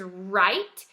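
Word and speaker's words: write: But in this word, it's just a silent letter. Okay, so this word is right, and the WR just makes the R sound.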